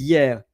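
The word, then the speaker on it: hier: Then yesterday is year and of course the H is silent. So H I E R year.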